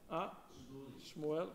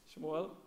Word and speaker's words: Shmuel: And Shmuel, correct. Shmuel.